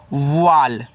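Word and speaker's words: wall: आपका होता है बंद डब्ल्यू ए डबल एल इसको पढ़ते हैं वाल तो ऐसे क्योंकि कि ए डबल एल अगर आपका इस तरीके से ऑल है तो यहां पे ए वाल इस तरीके से बन जाएगा और जिसका मतलब होता है दीवार।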